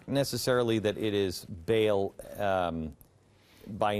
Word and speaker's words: Baal: you don't mind I'll I'll use the Hebrew pronunciation which is Bal. Okay. Uh Bal is a generic uh universe of idolatrous forces that all pull in the same direction.